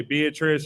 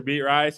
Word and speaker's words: Beatrice: Is that how it's pronounced? Yeah, Beatrice. There's so many people that would say Beatrice or Beat Rice.